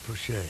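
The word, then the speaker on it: Pushie: great reunion seeing old Pushy. We always called him Push. William Henry, Pushy. Four names. Yeah. And Pushy, P-U-S-H-I-E. So that was my grandfather's name. Pushy? Pushy, yeah. Yeah, they pronounced it Pushay sometimes.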